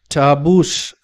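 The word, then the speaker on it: tarboosh: ദി റെഡ് ടർബൂസ് അപ്പൊ ഇവിടെ ടർബൂഷ് എന്നുള്ളത് ഒരു നമ്മൾ കേട്ടിട്ടില്ലാത്ത ഒരു വാക്കാണ് ടാബൂഷ് എന്നാണ് അതിൻറെ ഉച്ചാരണം അതിൻറെ അർത്ഥം എ മാൻസ്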